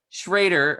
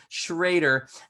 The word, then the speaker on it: Schroeder: Schrader, okay, even though there's an O there, Schrader, and Chris Macksey with Prefix Accounting.